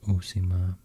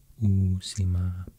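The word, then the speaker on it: Uusimaa: province is called usima oo sima i guess in when you pronounce finnish it's very important to to like um pronounce double consonants really long or not maybe not too long but at least not too short because if you pronounce them too short then it will be like you're pronouncing only one one letter instead of two when it should be two i think it's both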